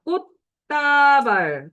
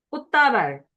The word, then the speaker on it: 꽃다발: 자, 꽃다발. 그럼 역시 디귿이다. 그리고 이게 디귿으로 바뀌기 때문에 이제 다는 따가 되는 된소리 대기가 일어나는데 그건 다음 주에 할 거니까 이 꽃 받침만 보세요. 꽃다발, 꽃집. 그렇게 디귿으로 발음된다.